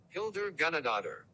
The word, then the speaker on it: Hildur Guðnadóttir: Hildur Guðnadóttir.